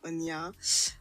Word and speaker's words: Onya: I have to really see if I can pronounce her name right. Ambukiyenyi Yes, yes, it is that. It Onya.